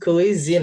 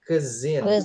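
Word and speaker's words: cuisine: It's not quizin ya. Tapi ke zin ke zin is khas khas suatu daerah suatu negara jadi s-nya jadi z ya sama kayak kita bilang mudah bahasa Inggrisnya apa, Guys?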